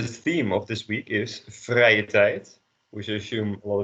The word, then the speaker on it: vrije tijd: We start with an e and you end on an I.